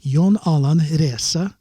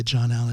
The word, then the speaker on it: John Alan: norwegians can't pronounce it they would call me yon alan and i'm like this is too difficult i mean that's fine to pronounce it that way but that's not my name so for artist purposes